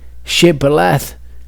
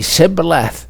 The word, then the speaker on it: Shibboleth: What was a sh for one tribe was a s for other tribes.